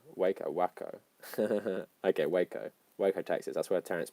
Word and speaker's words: Waco: happen in any other civilized and developed country wacko what would you say I was only pronounced it because Kings of Leon said it